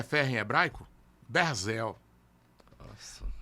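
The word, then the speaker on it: ברזל: Berzel.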